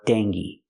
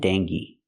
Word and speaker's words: dengue: you'll hear D and dangi so the gue is pronounced gay like gay the long a like say and pay D or Deni with